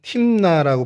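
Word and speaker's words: תמנה: 딥나는 히브리어로 그냥 팀나라고 발음을 하는 게 이제 정식 발음이고요.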